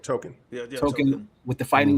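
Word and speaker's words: Tōkon: I might be saying the name wrong. Yeah, no, you're saying right. Token.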